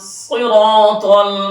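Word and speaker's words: ٱلصِّرَٰطَ: আর-রহমানির রহিম, মালিকি ইয়াউমিদ্দিন, ইয়াকা না'বুদু ওয়া ইয়াকা নাস্তাঈন, ইহদিনাস সিরাতাল মুস্তাকিম। সদে উচ্চারণটা একটু দাবিয়ে বলতে হবে।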